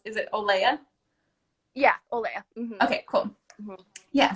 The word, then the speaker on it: Olea: How do you pronounce? Is it Olea? yeah, Olea.